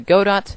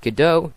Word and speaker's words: Godot: be doing God do I'm going to pronounce it God do not gdau not anything like that deal with it I